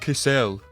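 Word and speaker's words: Kassel: these planes here to castle and hopefully that'll hopefully that'll help out a little bit. I'm going to get so many comments in the comment section being like, "Hey, idiot, it's pronounced Cassell."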